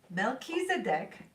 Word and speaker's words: Melchizedek: good balance yin and Young milk cheese oh pronounce Mel Keys a deck Melchizedek oh I'm glad that I got the pronunciation